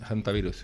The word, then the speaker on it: Hantavirus: Bueno, eso es una forma de No, es que claro, en inglés en inglés la H se pronuncia, se pronuncia la H, ¿no? Hantavirus, elta, el Hondius, el